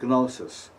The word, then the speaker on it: gnosis: And by the way, although I don't do it, the proper pronunciation is, believe it or not, gnosis. The G is pronounced.